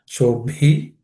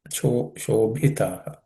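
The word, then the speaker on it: शोभितः: That also has to be aspirate, just like the Suprabhatam. Shobhitaha. Shobhitaha.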